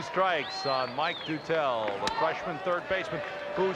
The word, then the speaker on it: Dutel: Pronounced Dutel, as checked out by Rick Wolf. Behind the batting cage, we've heard Doodle, Dutil, Dutel. I said, Mike, what's it going to be? He said, it's Dutel.